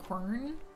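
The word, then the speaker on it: Quern: favorite puzzle games uh it's called corn uh q u r n is how it's spelled uh any of you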